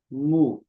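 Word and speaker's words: mu: के lambda lambda L मु या इसको म्यू भी बोल सकते हैं आप म्यू जैसे म्यू होता है ना म्यू म्यू म्यू एम म्यू उसके बाद न्यू इसको बोलेंगे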